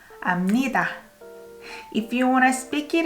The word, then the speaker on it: 압니다: You don't pronounce B here. B sounds more like M. 압니다.